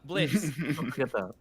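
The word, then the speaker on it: Blitzø: not no there uh blitz don't forget o is silent the o is silent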